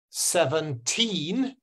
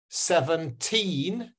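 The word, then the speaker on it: seventeen: 17. 17. Yeah. If you hear the T, the second syllable, it means it's teen.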